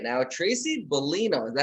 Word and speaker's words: Bulino: I have on Zoom with me right now, Tracy Bulino. Is that how you pronounce it?